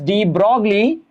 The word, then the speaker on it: de Broglie: We write it as de Broglie, we pronounce it as de Broglie.